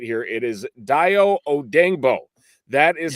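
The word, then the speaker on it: Dayo Odeyingbo: By those standards, and then following that up with, and we're going to get the pronunciation right here, it is Dio Odengbo.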